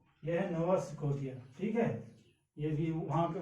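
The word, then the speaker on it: نوفا سكوتيا: وی اور ڈبلو کا پروناؤنسیشن اور اس کا تلفظ عربی میں فا سے ہوتا ہے. یہ ہے نووا سکوٹیا. یہ ہے نووا سکوٹیا.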